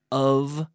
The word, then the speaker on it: of: When we have the word of with one F, the F is pronounced like a V. Of. The V, which is a voiced or vocalized F. So we say F, and then we activate the vocal cords.